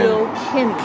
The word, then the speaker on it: Kilkenny: Right, it's Kilkenny. I keep saying it wrong. It's Kilkenny. Kilkenny. Kilkenny is how the locals pronounce it.